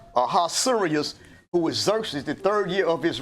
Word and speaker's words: Xerxes: up fast huh okay Xerxes x e r x e s circuses that that X is a z it's pronounced with the Z Xerxes right so it's